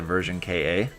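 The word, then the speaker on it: Ver.Ka: yeah it should be it should be kah because it's short for katoki uh it's not an acronym but in japan they do actually pronounce it version ka so if you like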